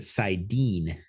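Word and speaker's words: saidin: one power oh siden and sidar yeah siden siden and sidar is how I say it I have seen people pronouncing it siden I've also seen people pronouncing it like s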